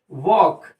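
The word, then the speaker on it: walk: एस टी आई एन अब देखिए इसमें टी साइलेंट हो गया अब जैसे बोला गया वॉक तो आप क्या कर रहे हैं व ए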